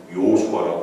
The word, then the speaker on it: 여호수아: 예수라는 것은 헬라식 발음이고 원래 히브리식 발음은 여호수아입니다. 지금도 유대인들은 요수아라고 불러요. 요수아.